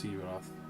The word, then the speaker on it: Herath: Because I kept saying Hirath, and then someone said no, it's Herath.